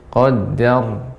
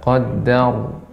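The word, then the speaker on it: قدّر: Nah, namun catatannya yaitu pengucapannya tidak dimonyongkan roknya. Jadi qaddar, tidak qaddar.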